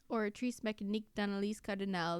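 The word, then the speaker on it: Oratrice Mécanique d'Analyse Cardinale: Oratrice Becanique Danalis Cardinal. That's how you pronounce it.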